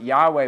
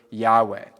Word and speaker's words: Yahweh: it's we pronounce it Yahweh but we really don't know how to pronounce it because the original four letters were just consonants and they don't actually have vowels and so the actual